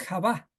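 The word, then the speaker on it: חוה: español le pusieron en hebreo en hebreo es Java Java que se escribe Con esta letra het b y Hey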